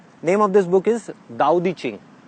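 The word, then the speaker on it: 道德经: Name of this book is दाओ दी चिंग। हम इसको पढ़ते हैं तो इट इज ताओ, TAO, बट we pronounce it एज दाओ।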